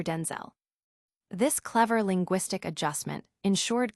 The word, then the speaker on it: Denzel: My mom would say Denzul and we'd both show up. So she said, "From now on, you're Denzel."